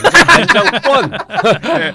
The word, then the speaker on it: 안정권: 안정권! 안정권이라고 해야 됩니다. 저는 서울 사람이라서 권은 없습니다. 된 발음을 안 써요.